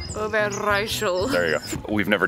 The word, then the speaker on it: Overijssel: Overijssel? Roll your R. Overijssel.